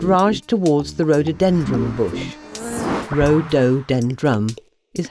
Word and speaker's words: rhododendron: Rhododendron is how you say it.